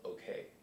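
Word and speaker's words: OOKAY: He ended up being a DJ called OK. Okay. It's spelled O-O-K-A-Y.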